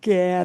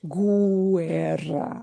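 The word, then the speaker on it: guerra: Ger. Gu. All right. gu and gui the u goes silent. So a word like ger is not pronounced guer right.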